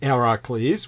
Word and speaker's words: Heracles: But Chiron, the wounded healer, the most noble of all centaurs, who taught the great Heracles, which is the correct Greek pronunciation for Hercules.